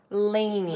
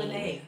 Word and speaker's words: Lene: Lainey. Lene. It's pronounced Lene. Lene? She's from Estonia.